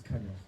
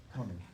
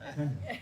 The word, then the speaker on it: Kanya: It's Kanya. Okay, Connie. No, Kanya.